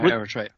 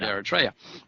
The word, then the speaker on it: Eritrea: I don't even know if I'm even pronouncing it correctly. Yeah, Eritrea. Yeah, Eritrea, right.